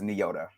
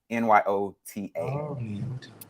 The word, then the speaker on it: Nyota: her name in that movie and it is nyota n-y-o-t-a nyota Uhura yeah okay okay girl read the